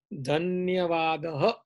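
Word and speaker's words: धन्यवादः: So the Sanskrit word for that is Dhanyavadaha.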